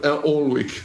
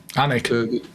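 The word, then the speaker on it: Alnwick: visited some of the famous castles castle castle all Weck all Castle anik yeah yeah yeah sorry my bad pronounce that's all right you can't speak Scottish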